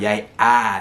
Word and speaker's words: jeg: So you have jeg her, right? So it's written with the E, but it's actually pronounced with the Norwegian letter A.